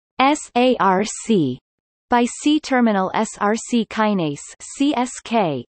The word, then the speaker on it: src: Phosphorylation of SRC tyrosine kinase pronounced SARC by C-terminal SRC kinase